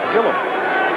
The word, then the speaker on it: Gilliam: you know him well how do you pronounce his name you say Gillam Joel Gilliam and yet it's listed in the pronunciation guide and in other places and and uh for years I've heard it pronounced Gill him well he always answered to Gil him in Pittsburgh I meant to